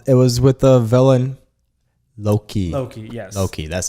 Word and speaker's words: Loki: yeah yeah uh it was with the villain loki yes okay that's how you pronounce it um so that movie came out in 2012.